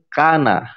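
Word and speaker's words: كان: Ketika kita misalkan ada huruf kaf, huruf nun, lalu ada fathahnya semua di atas, kita akan baca kana. Nggak dibaca kono kayak Gracia Pelo, enggak, kana dibacanya gitu kan.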